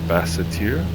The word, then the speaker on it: Basseterre: This is I will not pronounce it correctly. Basseterre.